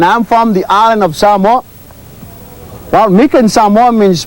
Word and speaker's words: Samoa: Most people will say Samoa. And the right pronunciation of the word is Samoa. Okay? So it's not Samoa, it's Samoa.